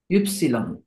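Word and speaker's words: Ypsilon: ইক্স ইক্স এরপর আসবেন হচ্ছে এটা একটু চেঞ্জ ইউপসিলন ইউপসিলন এখানে একটা ওমলাউ আছে এটার উচ্চারণটা একটু একটু টান দিয়ে করতে হয় ইউপসিলন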